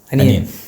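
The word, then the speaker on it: onion: അനിയൻ അനിയൻ ഇളയ ആളുണ്ടല്ലോ അനിയൻ അനിയൻ ശരിക്കും അങ്ങനെ പറഞ്ഞാൽ മതി കറക്റ്റ് അതാണ് കേട്ടോ നമ്മൾ ഒനിയൻ എന്ന് പറയും പക്ഷെ ഒനിയൻ അല്ല അനിയൻ അനിയൻ ഓക്കേ ഓക്കേ യെസ്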